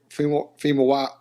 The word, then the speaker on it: Famuyiwa: 1980s comedy drama written by dope filmmaker Rick Famuyiwa, how you say it?